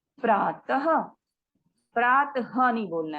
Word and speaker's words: प्रातः: इसके उच्चारण में स्वर के साथ हल्के ह का भी उच्चारण होता है। जैसे प्रातः, अतः, रामः, गजः, नरः।